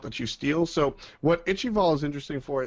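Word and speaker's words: Ichaival: analyst says um my I like icky ball ichibald that is the correct pronunciation I'm glad you I'm glad you said it first by the way it's itchy ball and uh it's cool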